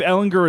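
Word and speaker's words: Ehlinger: It's if Ellinger, I think it is a hard G.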